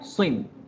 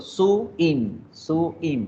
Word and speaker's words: swim: Digo swim, swim, swim. Yo no digo su-im, no. Swim, swim, swim. Es monosílaba.